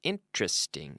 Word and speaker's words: interesting: 3 syllables. Interesting. Now, notice we don't say interesting, but interesting.